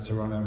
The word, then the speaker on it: Toronto: remember to pronounce Toronto, dropping the second T.